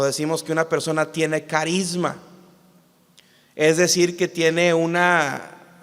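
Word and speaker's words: χάρισμα: De hecho, la palabra don en el griego se pronuncia carisma, de donde viene la palabra carismático.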